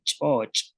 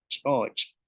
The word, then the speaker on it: ch'óoch': Tenemos como shoch, búho, chocó, caliente, y choch, salado. Y en este caso de salado, podemos observar que la cha está al principio y al final de la palabra.